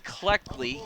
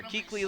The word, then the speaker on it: Cleckley: Yeah, that's number 3, Cleckley. And I got to apologize. Sarge told me apparently I was mispronouncing and saying more like Keckley or Keekley last week.